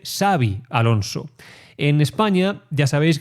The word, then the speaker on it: Xabi: Eh, no se dice Chavi Alonso, se dice Savi Alonso.